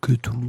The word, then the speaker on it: Cthulhu: il y avait marqué Cthulhu se prononce Cthulhu, tu vois. Oui, c'est ça. Que te loulou.